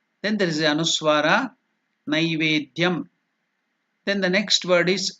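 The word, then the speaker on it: नैवेद्यम्: Generally in South Africa they will pronounce this as nei. It is not nei, it is nai. Naivedyam. People wrongly pronounce it as naivedyam. It is not naivedyam, it is naivedyam.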